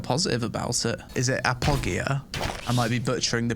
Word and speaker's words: Apogea: must be never mind it's pronounced Appo Gia apogia apogia okay tuck PK this